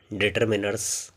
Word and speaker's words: determiner: तो इसका जो प्रोनाउंसिएशन है वो है डिटरमिनर, जिसमें आर साइलेंट दिखाया गया है और ये